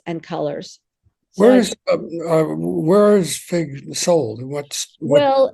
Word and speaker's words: Figue: French spelling which is fi guu e although it's pronounced fig just like here in America um and so we've